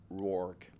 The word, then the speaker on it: Rourke: Rourke. Nathan Rourke. R-O-U-R-K-E. Rourke. Comme l'acteur.